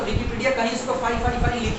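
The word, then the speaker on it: phi: वो अब सोचो इसका प्रोनाउंसिएशन इतना ऑड है ना, लोग इसको फेमस कर दिए फाई के तौर पे, ये हाई नहीं है फाई।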